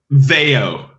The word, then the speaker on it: Veio: the name of the band how do you pronounce the name of the band Veo Veo you were right I was wrong I